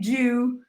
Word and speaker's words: Ju: It's spelled J-U. So yeah, sorry, right. Big jug without the G.